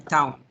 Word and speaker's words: Towne: Tenemos el cráneo, AP, lateral, y Towne, ¿verdad? Es T-O-W-N-E, Towne se pronuncia, ¿verdad?